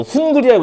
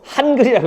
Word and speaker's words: 한글: 이게 아라고 읽으면 돼. 이거 훈글이라고 읽지 마세요. 한글이라고 읽으면 돼.